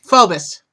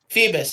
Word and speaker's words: Phoebus: Phobos. Captain What? Phobos. Phobos. Thank you. Phobos. Is Phoebus actually.